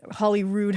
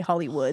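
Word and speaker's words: Holyrood: was the grounds of the Hollywood Holly Rood I always want to say Hollywood Hollywood Abbey which was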